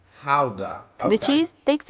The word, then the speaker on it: Gouda: this one behind me depending of whether you're native you will pronounce it either GAA or k so since we're talking about authentic dut cheese we're going to call it Howa Howa the cheese takes its